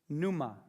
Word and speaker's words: pneuma: And then you spell that R-U-A-C-H. Ruach. Ruach. Ruach. The Greek word is the word pneuma.